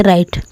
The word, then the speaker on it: right: GH अगर टी के पहले रहता है तो वो साइलेंट रहता है, तो इसको पढ़ते राइट।